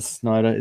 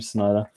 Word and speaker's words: Snyder: Snyder, that's how you say his name, Snyder.